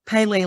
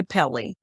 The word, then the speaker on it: Pele: Some people say, oh, Pele, like the soccer player. And yes, it's spelled somewhat the same without the accent on the E. Yes. The angu on the E. But yeah, it's different. So, or you can think